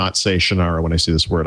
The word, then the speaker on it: Shannara: Terry Brooks today and he said sort of Sean I right so excuse me Mr Brooks I believe that's pronuncially wrong it's Shannara I know you wrote it